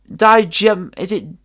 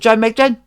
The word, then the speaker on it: Nijmegen: Is it if any of you Dutch subscribers out there could help me with the pronunciation of this, is it Jameggen? Is it Jameggen?